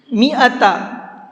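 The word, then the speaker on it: مِائَةَ: بھر کے پڑھتے ہیں۔ میعتا، اس لفظ کو دھیان سے سنیے گا پھر سے، میعتا، میم زیر می، حمزہ زبر آ، اور تا زبر تا، یہ ہے اس کی ہجے۔ یہ جو الف ہے یہاں پر، یہ الف نہیں پڑھا جائے گا، ٹھیک ہے۔ عامی، اس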